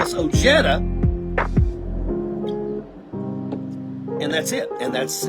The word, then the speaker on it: Ojeda: is actually pronounced Richard Ojeda Ojeda the J has the H sound I am Hispanic the reason why we say oh Jeddah is because when my